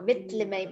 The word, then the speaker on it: Villimey: Well, this is a common misconception, but actually the double L's, they're pronounced so Villimey Mist.